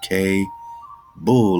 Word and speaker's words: Kabul: Pronounce K Bull like cable.